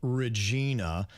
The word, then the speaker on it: Regina: We'll have Virginia playing the role of Regina. Jbird, you're going to be Jasmine, and Denny's, you can be Andy. I pronounce it Regina. Regina, okay. Regina. Kind of like your name, Virginia.